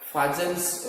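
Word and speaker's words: Fajans: the rules are called Fajan's rule. Okay, F-A-J-A-N-S. Fajan, some teachers pronounce it Fajan's rule.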